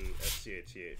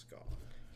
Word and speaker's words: Scath: If it's written S-C-A-T-H, so everyone's like, oh, it's Scath or Scott or Scath. It's actually pronounced Ska. Ska! It's like, Gaelic like for shadow.